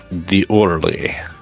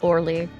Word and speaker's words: Orly: There is Airport Charles de Gaulle and the Airport d'Orly. D'Orly? I don't know. I'm not French, and I'm terrible at pronouncing it. It's just Orly.